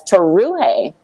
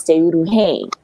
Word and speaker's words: Teuruhe: I was known as Toruhe. My name is Teuruhe, right?